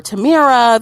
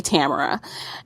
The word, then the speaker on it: Tamara: Like, no, everyone usually mispronounces my name. They usually say Tamara or Tamira. They don't say Tamara.